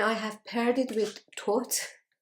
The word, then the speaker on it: Thoth: And I have paired it with Thoth, or as Americans say, Thoth.